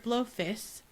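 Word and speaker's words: Blofis: Blowfist, which will be the only time I say it correctly.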